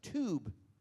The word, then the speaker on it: Tub: and his name was Tube. And then they said, like, well, if you pronounce T-U-B, Tube, that's like a German way to pronounce it, so he's German.